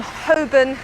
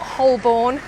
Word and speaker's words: Holborn: area of hoben um hoban not holborn don't the l is silent um you'll hear that